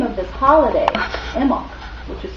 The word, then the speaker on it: Imbolc: the Earth itself the name of this holiday emok which is spelled I am be a well science uh